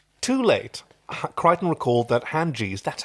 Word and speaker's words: Hynerian: Too late, Crichton recalled that Hanjis, that's how you pronounce it, Hanjis possess detachable eyeballs, ideal for spying on potential shoplifters, just like Mr.